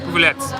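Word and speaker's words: Pufuleți: Oh, Ivana, there's an accent on the T. It's Pupuletti. Pupulets. Yeah, Bucharest. Pupulets. Like Bucharest. Like Bucharest. Pupulets.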